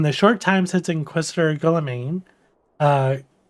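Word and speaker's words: Guillaime: short time since inquisitor golemaine uh guillermo i we decided how to say his name earlier gillam arrived in coerthus countless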